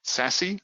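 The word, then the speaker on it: SASE: secure access service edge it is apparently pronounced officially sassy I'm not making it up it's there on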